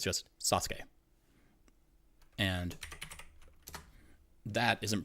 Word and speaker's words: Sasuke: I'll type this name like that name is pronounced Sasuke like not Sasuke it's just Sasuke and that isn't pronounced OSU it's just o